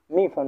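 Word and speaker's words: 米饭: তাহলে মি ফান এটা যে সম্পূর্ণ উচ্চারণ করতে যাই, মি মি ফান, মি ফান মানে হচ্ছে কি, মি ফান মানে হচ্ছে ভাত, মি ফান মানে হচ্ছে কি ভাত।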